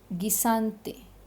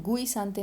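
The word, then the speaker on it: guisantes: गी, गिसानते, गिसानते, ठीक है, गुई सांते नहीं, गिसानते, मटर, पीज।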